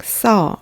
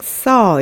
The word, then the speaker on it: saw: 그냥 saw. 이 W 발음을 하지 않고요. 그냥 saw 이렇게 발음해요.